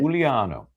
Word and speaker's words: Giuliano: Giuliano, is that That's how you pronounce it. Giuliano on the verdict?